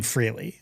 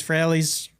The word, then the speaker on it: Frehley: which is actually a mispronunciation of Ace Frehley. He pronounced his name Frehley, I think. Okay. But then he released an album called Fraley's Comet. So I don't know. Maybe it's Fraley.